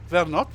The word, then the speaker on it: Vernot: Oh, it's really with a hard T. Vernot.